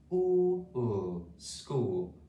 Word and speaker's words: school: say them together quickly school with a silent h there okay so let's say